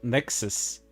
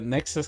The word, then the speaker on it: NEXAS: uh several things about Nexus which kind of sounds like Nexus you know the one